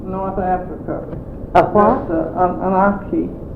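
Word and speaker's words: akee: everything, and we've got an archie out there from North Africa. A what? An archie. How do you spell it?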